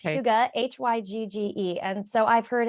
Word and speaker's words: hygge: to you you did it really well it's Huga h-y-g-g-e and so I've heard every iteration every possible mispronunciation of it most people like to say higgy or hide or hygiene various things I used to call it I